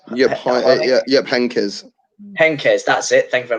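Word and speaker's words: Heynckes: 2013 scene managed by i always get his name wrong jeff hinex yeah yep hankers henkes that's it thank you very much gav appreciate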